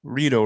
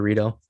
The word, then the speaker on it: Rito: all right cool cool what's up Rito right that's how you say it yup burrito burrito some people say Mexican jarito but you I prefer Rito oh okay what's the